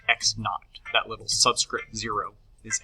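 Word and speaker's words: x₀: um position now minus the initial position pronounced x naught that little subscript zero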